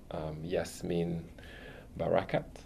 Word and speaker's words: Yasmeen Barakat: And today in the studio, we have another exceptional and special guest, Yasmeen Barakat. That's how I pronounce it.